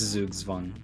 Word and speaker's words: Zugzwang: to make it that exact joke basically it's pronounced it's zooksvan it's no it's the zugzwang you probably have the spelling right but it's